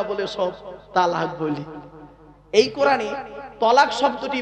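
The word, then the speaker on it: طلاق: একটা শব্দ বলে কি তালাক বলে না আ বাবা বলো না শব্দটা কিন্তু তালাক নয় শব্দটা তালাক নয় শব্দটা হলো তলাক কি বললাম তলাক ওর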